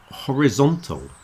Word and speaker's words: horizontal: the middle Horizon but horizontal you see the sound of the letter i in the middle is very different and the stress is moving Horizon horizontal horizon horizontal